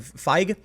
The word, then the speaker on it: Feig: How do you pronounce his name? Feig.